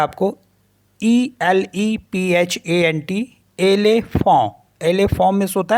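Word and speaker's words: éléphant: Next word मैंने already बता ही रखा है आपको, ELEPHANT, एलेफॉन्ट।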